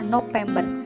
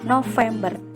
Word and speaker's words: November: berlaku di bulan november biasanya diucapkan dengan kata movember padahal yang benar yaitu november ingat ya februari november